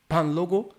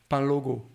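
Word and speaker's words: Kpanlogo: Okay, this is called Panlogo drums. Panlogo. Palogo drums? You write it KP, but you have to swallow the K. Okay, all right. K is silent? Yeah. Panlogo.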